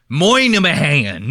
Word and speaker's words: Minahan: His name is spelled Minnie Hain. And they pronounce it the fucking crazy. They go, my name is Kirk Moynihan. You know what I mean? It's like, dude, spell it like it's fucking, or say it like it's spelled.